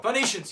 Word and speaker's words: Phoenicians: people pronounce things wrong phoenicians you did something great with phonetics absolutely you know what Phoenicians that pH at the beginning of your name did you really just not like F or what I don't know if